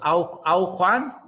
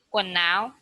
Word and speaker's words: quần áo: Áo khoan? Vietnamese? Áo khoan? Quần áo.